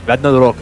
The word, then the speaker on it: Ragnarok: Yes, Ragnarok is actually how you pronounce it.